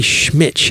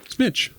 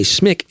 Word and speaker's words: Schmich: This is Mary Schmitch. Schmitch? SCHMICH. Schmitch. I want to say Schmick at first, but that's an H at the end.